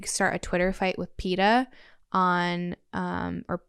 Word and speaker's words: PETA: And then after that, when you win, they made me start a Twitter fight with PETA on or it's, that's how you say it, right? PETA, yeah.